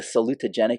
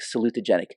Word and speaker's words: salutogenic: Okay, think salute. Okay, so just remind me, your daughter's going to the military? Salute. It's like 5 syllables.